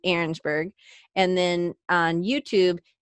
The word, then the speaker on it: Arensberg: a see yeah it sounds like it's arensburg I know how to say it but that's not out looks like it's calm and then on